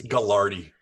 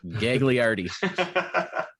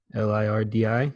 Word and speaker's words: Gagliardi: It's Gallardi. Nope, Gagliardi. I do see that extra G in there, so It's pronounced I do wonder Gallardi.